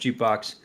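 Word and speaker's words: JKBX: the the startup jukebox JK BX is the um the acronym him J JK BX pronounced jbox uh they have gotten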